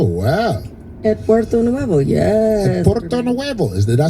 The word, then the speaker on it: Puerto Nuevo: Puerto Nuevo.